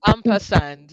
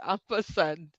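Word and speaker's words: ampersand: It's that all of us know this one is that I know it's actually called amperand actually. Yeah, the right answer is amperand.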